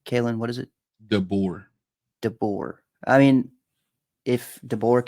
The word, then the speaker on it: DeBoer: DeBoer, DeBoer.